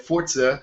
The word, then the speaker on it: Forza: i said it right forza because supposed to be like fort and za uh horizon 2 and